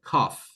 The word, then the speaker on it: cough: one is with F, right? Cough. Cough.